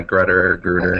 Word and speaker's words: Grutter: And is it Grutter? How do you pronounce it? Yeah, Grutter.